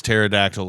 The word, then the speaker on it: pterodactyl: can think of is pterodactyl with the P is silent, so it's not really working.